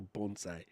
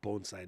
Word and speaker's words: bonsai: Clipping the microphone like a bonsai. It's actually bonsai, not bonsai.